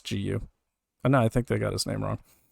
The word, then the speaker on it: Gu: Another man, Hao Gu, I'm sorry I got his name wrong earlier, it's Gu.